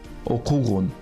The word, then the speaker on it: окугун: «Иштегин» – work, «окугун» – read. Внимание! Аффиксы в повелительном наклонении, как исключение, безударны. То есть при их произнесении ударение падает не на них, а на предшествующий слог. Например, «иштегин», «окугун». Please note, suffixes in the